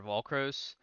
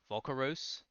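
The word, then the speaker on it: Volcoross: I think he's like the third boss, Volcaros. I was saying it wrong.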